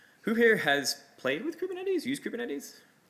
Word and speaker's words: Kubernetes: Who here has played with Kubernetes, used Kubernetes? Not that many people have heard of Kubernetes? I say Kubernetes. Some people say Kubernetes. Technically, it comes from the Greek word helmsman.